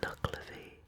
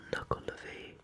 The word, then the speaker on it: Nuckelavee: Today we're talking about the Nuckelavee or Nuckelavee. There are a few different pronunciations that I've found online, but it is a good one.